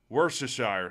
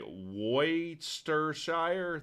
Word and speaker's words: Worcestershire: How do you pronounce this? Can anyone tell me? I call it Worcestershire sauce.